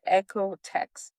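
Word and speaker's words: OEKO-TEX: And this is the echo text. I'm going to spell echo because it's not like how it sounds. It's spelled o e ko dash t x.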